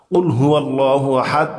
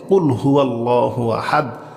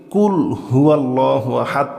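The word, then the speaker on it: قل هو الله أحد: কুলহু আল্লাহু আহাদ বল তিনি আল্লাহ এক অদ্বিতীয় মাশাল্লাহ বল তিনি আল্লাহ এক অদ্বিতীয় কুলহু আল্লাহু আহাদ সঠিক উচ্চারণের সঠিক অর্থ হবে বল তিনি আল্লাহ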